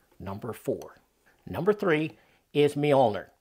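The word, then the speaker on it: Mjölnir: four number three is molner now that's how I pronounce it some people I think I've heard it said Meir uh there's the word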